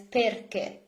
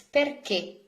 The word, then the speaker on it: perché: translation of why, perché, there is an accent on the final E, perché. If you do not put accent, you would read this as perché, and it's not correct. It's perché.